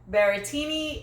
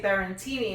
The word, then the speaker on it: Berrettini: I know someone else corrected me, but I think I always say Berrettini. It's Berrettini. And so the N is silent.